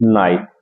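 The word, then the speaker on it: knight: आई जी एस टी नाइट इसमें इस word में जो अपना के है वो साइलेंट है जैसे नो नॉलेज नाइफ इन सब में अपना जो के है साइलेंट है इस नाइट का मीन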